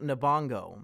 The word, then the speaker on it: Lupita Nyong'o: She's the main character, and Erich, please, her last name is pronounced Nabongo.